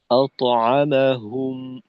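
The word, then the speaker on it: أطعمهم: তো তয়ের উচ্চারণটা একটু উম, শক্তিশালী হওয়া দরকার আর কি। যেমন আত, আত, আতআমাহুম, এরকম।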